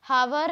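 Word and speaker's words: hour: बस आगे बढ़ते हैं, तो हमारा चौथा इसमें भी था हॉनेस्ट, हॉनर, हावर, हेयर, इसमें एच जो है वो साइलेंट है।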